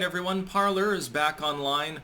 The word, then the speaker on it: Parler: all right everyone parlor is back online parlay technically but they they changed the pronunciation because nobody understood that it was meant to be like like the french word for for speak i believe uh uh